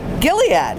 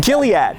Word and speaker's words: Gilead: Gilead. Yeah, that's how you say it. Gilead.